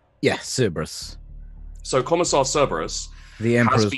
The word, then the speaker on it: Cerberus: On this particular day, Commissar Cerberus, is it Cerberus or how's that pronounced? Yeah, Cerberus.